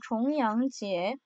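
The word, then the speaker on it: 重阳节: 중양절 여기서 여러분, 무거울 중자 쫑 아니고요. 겹치다, 중복되다의 종이라고 읽어야 됩니다. 다음 절이에요. 종양지에인데요. 종양지에.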